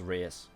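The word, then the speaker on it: Reiss: So yeah, Historia, it is actually pronounced race. Last episode I said rice, but it is race.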